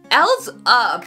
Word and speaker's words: EL7Z UP: guys it's Eric we're gonna be checking out else up that's how you say it cheeky really excited